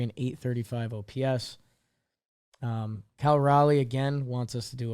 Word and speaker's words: Raleigh: Cal R's baseball page it says rhymes with with jolly yeah does it Raleigh Jolly Cal Raleigh yeah